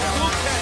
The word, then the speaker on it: Phuket: Many people think it's pronounced in a different way, but no, it is Phuket.